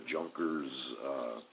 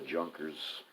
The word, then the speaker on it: Junkers: chiefly affected by the Junkers 52 sent by Hitler. And you probably don't pronounce that J. It's probably a Junkers.